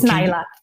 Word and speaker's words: Naailah: It's Naailah. Naailah. There we go. Naailah. Yeah, it's okay. New York to LA.